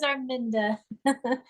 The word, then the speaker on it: Arminda: So yeah, my name is Arminda. It's pronounced like Melinda. A lot of people freak out when they see my name.